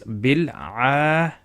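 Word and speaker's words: بالعالمين: Now this word is actually written with an alif, silent alif, just before the la, okay, the lam. So it's written there. So but it's pronounced as bil alamina.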